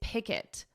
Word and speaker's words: picket: Notice for pronunciation, it's picket. Pick it, and then say it combined. Pick it, picket, picket, picket line.